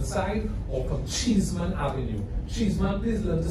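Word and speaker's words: Cheesman: It's not cheese like in cheese, it's C-H-E-E-S-M-A-N. Don't put in the extra E's. Almost like chestnut, but it's E, so it's cheese.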